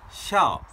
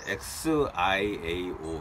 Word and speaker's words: 孝: 샤오 샤오 샤오 샤오가 됩니다. XIAO 이렇게 됩니다. 아. X요? 네, X로 발음합니다.